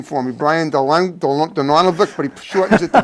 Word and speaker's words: Dongelewic: Actually, the correct pronunciation of my name. Yeah, say it slowly because I almost never use it to make it simpler. It's actually Dongelewic. Okay. Now, I myself pronounce it Dongelewic, trying to help people out.